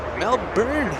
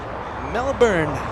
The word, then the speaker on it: Melbourne: it with the you mel burn i thought i thought i've been saying it like that katie thank you so much for the amazing tip melbourne are you ready